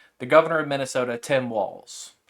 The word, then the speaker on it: Walz: governor of Minnesota Tim Walls it's just walls not Waltz people keep pronouncing his name wrong and I don't know